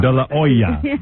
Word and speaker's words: De La Hoya: Now that he's big and famous, you have to say it the way it's pronounced in Mexico. How is that? De La Hoya or something. De La Hoya.